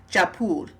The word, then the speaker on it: Jaipur: They pronounce it Jaipur.